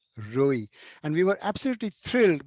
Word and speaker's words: Rohi: I've discovered, incidentally, that the name Roi also exists in Punjabi, and except that they pronounce it Rohi, and it means wilderness.